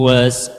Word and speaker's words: was: A person who was at first Not was. The Who- S is like Z. Was.